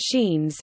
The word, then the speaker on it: Sciennes: Sciennes, pronounced Sheens, is an area of